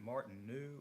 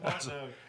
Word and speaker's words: Martineau: Is it Martin new or no? So I watched the video of the last meeting, and I said it wrong. It was Martineau. actually, the EAU is just a no, so it's just Martineau.